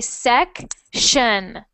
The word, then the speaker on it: section: the chat right now when you see t i o n it sounds like shun SE so you're going to say section section perfect section oh